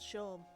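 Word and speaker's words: Seam: have been using one swear the name's Shawn pronounced Shawn and this is my little shop over the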